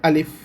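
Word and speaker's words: ألف: এই যে লম্বা অক্ষরটা এটার নাম হচ্ছে আলিফ, আলিফ শেষে একটা ফয়ের মতন উচ্চারণ হবে।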